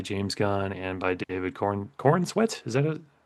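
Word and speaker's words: Corenswet: looked at by James Gunn and by David Cornsweet. Is that it? Cornswet.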